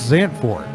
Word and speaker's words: Zandvoort: the boys are gone pronounced Zandt boy or if you're from Texas Sam hurt is the motorsports racetrack